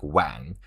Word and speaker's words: Wang: They they read this way but they're like w pronounced this way like a w when and then it's add a g so a little bit nasal sound.